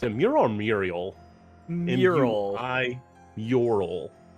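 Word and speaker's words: Muiral: mural it's a mirror Muriel mural I URL it's it's real it's weird because it's spelled like Muriel right but the the pronunciations that I've seen watsi staff use is mural all right then that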